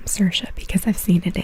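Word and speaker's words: Saoirse: have sersa Ronin and I know I know that's actually how you say her name sersa because I've seen it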